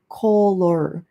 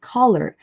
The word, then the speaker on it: color: So, you don't say color. Uh you don't say the o sound. You say uh sound. It's color. Um okay, so the color